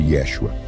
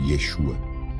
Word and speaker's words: Yeshua: Sem o A final, o nome provavelmente soava menos como Yeshua, com aquela sílaba final proeminente rimando com palavras como vírgula ou iguana, mas mais próximo do que o Dr.